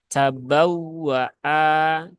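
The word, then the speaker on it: تبوّءا: nah ini perlu diperhatikan huruf wau yang bertasdid itu cara membacanya adalah ee dengan cara annabr ya dengan cara annabr yaitu dengan cara diberikan penekanan sedikit tabawwaa cabawa cabawa ya kenapa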